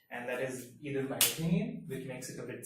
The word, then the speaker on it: pinyin: One is the Chinese character, the traditional or the simplified Chinese character, and the other is pinyin. Now notice my pronunciation. Pinyin. This is pronounced as pa, pinyin.